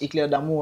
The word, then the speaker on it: Éclair d'Amour: c est clair d'amour ça c'est que comme ça se prononce éclair d'amour en france et des